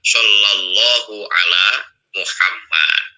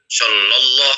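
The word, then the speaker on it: صلى الله على محمد: ejaan daripada kalimat Arab yang benar itu adalah Sallallahu ala Muhammad ini Kalau mengikuti daripada kalimat-kalimat Arabnya kalimat-kalimat huruf hijaiyahnya Sallallahu ala Muhammad bukan shalallah karena tidak ada tidak ada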